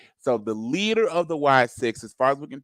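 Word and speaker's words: Wyatt Sicks: Bray Wyatt and then six which is spelled SI i c k so like being sick being ill and then the number six so the Wyatt six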